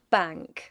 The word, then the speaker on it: bank: The n changes to n g before k and g. So, bank is bang. Long is lung. Longer is lunger.